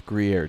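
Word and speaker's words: Gruyère: It is Gruyere cheese.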